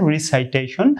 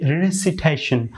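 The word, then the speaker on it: recitation: তো এখন আপনারা যে ওয়ার্ডটি দেখতে পাচ্ছেন রিসাইটেশন, এখানে রিসাইটেশন যদি কেউ উচ্চারণ করে তাহলে এটি সম্পূর্ণরূপে ভুল। তো আপনি সেটি উচ্চারণ করবেন রেসিটেশন, রেসিটেশন, রেসিটেশন, রেসিটেশন।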